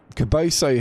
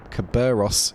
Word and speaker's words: Caberos: But Caboso here... Oh, Caberos. God, I've been saying it wrong the entire time, haven't I?